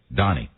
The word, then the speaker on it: Doni: d as David O N I yes yes Donnie okay Donnie all right Donnie okay it's my stage you can say doni it's pronounced that way in certain parts of the